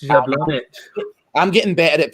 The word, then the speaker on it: Jablonec: It's Jablonec. I'm getting better at pronouncing that as the night's going on, by the way, Gog.